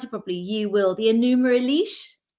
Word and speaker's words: Enuma Elish: I don't know how to pronounce it properly. You will. The Enuma Elish? Enuma Elish.